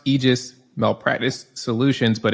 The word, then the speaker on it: Aegis: sure everybody can find you guys um it's pronounced aegis malpractice solutions but it's spelled a e g